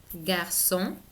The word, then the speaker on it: garçon: Un garçon, esta C se pronuncia como una S, garçon, portugais, y la A y la I, igual que en français, se pronuncia como una E.